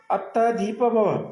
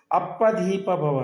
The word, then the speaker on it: ಅತ್ತ ದೀಪ ಭವ: ಅಂತ ಇವರಿಬ್ಬರು ಉಚ್ಚಾರ ನೋಡಿ ಬುದ್ಧ ಹೇಳಿರ್ತಕ್ಕಂತದ್ದು ಅತ್ತ ದೀಪ ಭವ ಆದರೆ ಇವರು ಪ್ರೊನೌನ್ಸಿಯೇಷನ್ ಇವರು ಉಚ್ಚಾರಣೆ ಮಾಡ್ತಕ್ಕಂತದ್ದು ಅಪ್ಪ ದೀಪ ಭವ ಅಂತ ಅಂದ್ರೆ ಇವರಿಗೆ ಅತ್ತ ಅಂದ್ರುನು